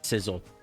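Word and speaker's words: Scizor: Sizzle, not scissor.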